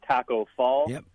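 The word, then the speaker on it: Tacko Fall: Extremely tall team, knowing Taco Fall, if I'm pronouncing that name correctly.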